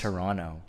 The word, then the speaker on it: Toronto: say you're from Toronto, why are you saying the T at like the second T?